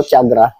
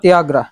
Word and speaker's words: Tiagra: Ano bang tamang pronunciation niyan? Tiagra o chagra? Shimano. Tiagra. Tiagra talaga no?